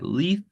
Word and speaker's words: lead: En este caso, el verbo, la pronunciación correcta de el presente del verbo, de este verbo que es liderar, sería lead, pero en pasado se pronuncia led.